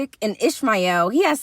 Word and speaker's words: Ishmael: And that's how it says it, Ishmael.